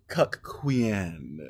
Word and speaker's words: cuckquean: now let's get into cck Quan is how I'm pronouncing it because you have to make it distinct from the C queen as we talked about